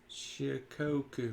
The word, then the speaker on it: Shikoku: was like i was thinking you're trying to pronounce something from back east it was shikoku yeah anyway uh this is my number 30.